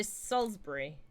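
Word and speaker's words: Salisbury: of here um yeah so Salsbury is how it's technically supposed to be pronounced but um I was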